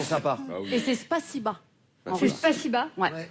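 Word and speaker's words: спасибо: Et c'est Spasiba. En C'est russe. Spasiba. Ouais, ça oui, s'écrit bon, O, mais ça écrit se prononce Spasibo, Ah, mais c'est d'accord.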